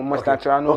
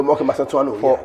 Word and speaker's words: Mastantuano: the Argentina guy, I don't know how to pronounce his name. I don't want to murder his name. So Cristiani? No, Mastantuano. Okay, Mastantuano.